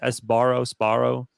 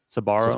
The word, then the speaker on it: Sbarro: They're doing really well right now, 75% to 25 versus how do you pronounce it? Sbarro. Sbarro? Sabaro. Sbarro.